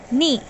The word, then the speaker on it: knee: Knee. Gutna. While pronouncing knee, the K is silent.